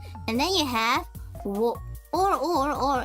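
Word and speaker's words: を: Okay, so you see, wo. Actually, it is more commonly pronounced as o, and it sounds exactly like, okay, as you see here, like o.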